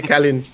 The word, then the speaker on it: Calin: Like, is it Kalin? Kalin? Yeah, Air Calin. That's actually it's French. Really.